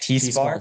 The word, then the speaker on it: T-Spark: Okay, it's pronounced T Spark. T-Spark.